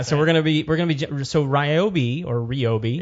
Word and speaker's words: Ryobi: No, because it's like my name, well, Ryobi. it's just the right way. Yeah. But they have gone out of their way to make sure that we pronounce it the way that they want us to.